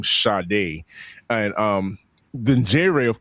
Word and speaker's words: Sade: Well, let's pron it's she pronounced it as Shade, but it's spell Satie.